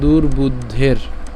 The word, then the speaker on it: দুর্বুদ্ধের: সমাগতাহ ধারত রাষ্ট্রসীয় দুর্বুদ্ধের এইখানে যে রেফটা আছে এই রেফ টাকে আমরা এটার সাথে উচ্চারণ করে ফেলছি অর্থাৎ দুর্বুদ্ধের হ্যাঁ তাইলে যুদ্ধে প্রিয় চিকিৎসব